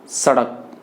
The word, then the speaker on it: सड़क: तो आप समझिए, इसका जो उच्चारण होगा वो होगा सड़क, सड़क से। इसका उच्चारण दंत से हो रहा है, सड़क।